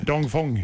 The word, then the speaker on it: Dong Feng: bord på kinesiska båten dong Feng är det rätt uttalat Martin dong Fong dong Fong säger vi då Ja Ja men det